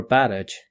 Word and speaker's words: Barrage: it that way or you can pronounce it barrage or barrage which is the correct way to pronounce it and drop them as